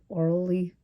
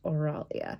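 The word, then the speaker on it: Oralie: started the series read orally that's how it's pronounced yes orally's name wrong and instead of an e at the end I saw an A and now I cannot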